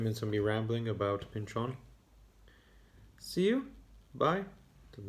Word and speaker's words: Pynchon: again whenever oh by the way did i pronounce his name properly it's thomas pinchon not thomas pinchen that's how it's pronounced pinchon also though because i read this i also